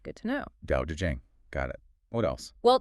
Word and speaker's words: Tao Te Ching: So Tao to Ching is really Dao to Jing in the modern pinyin system. Good to know. Tao Te Ching.